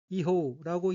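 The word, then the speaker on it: 違法: 우선 빨간색 줄침 부분을 보면 첫째 줄 왼편의 어휘는 한자가 한국어로 위법이고 각기 어긋날 위, 어법자로 되어 있고 일본어로는 이호우라고 읽으며 이호우는 위법이란 뜻입니다.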